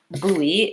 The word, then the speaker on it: buoy: weird word isn't it so buoy is spelled with letters that don't really match how it actually sounds it actually sounds like boo e or boo boo E